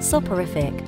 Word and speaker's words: soporific: to help you memorize soic sounds like so far risky so this soic is